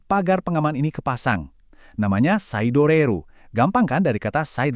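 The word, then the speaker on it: サイドレール: Namanya saidoreru.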